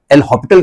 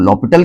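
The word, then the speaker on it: L'Hôpital: rule हम apply करेंगे एल हॉस्पिटल भी कहते हैं कुछ लोग लॉ पिटल कहते हैं कहीं कहीं एस साइलेंट होता है हॉस्पिटल य पर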